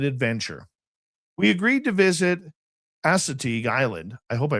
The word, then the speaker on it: Assateague: We agreed to visit Assateague Island. I hope I pronounced that right. That's right. Assateague Island, a barrier island and wildlife refuge.